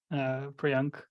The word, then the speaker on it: Priyank: Priyank is how you pronounce it.